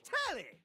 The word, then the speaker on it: Telly: The name's Telly. Rhymes with Whoa. Nelly, did you know tell I'm also looking at the very bottom of my screen.